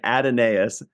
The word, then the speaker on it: Adonais: said in one thing it said it's pronounced just like Adonis I'm like that's pretty